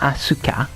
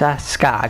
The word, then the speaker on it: Asuka: sue me it's like a scar it's not Asuka it's a scar cuz you don't pronounce EU in the Japanese language cuz all